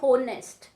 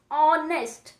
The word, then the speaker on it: honest: When we pronounce these words, the beginning sound is of a vowel.